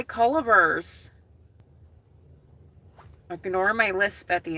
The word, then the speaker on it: Culver's: They're being like, Culvers.